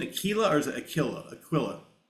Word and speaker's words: Aquila: Aquilla. In this country we say Aquilla. Okay. And Aquila in in Italy. Okay. So it's Aquilla.